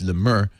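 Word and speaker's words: Le Meur: It's Lemur.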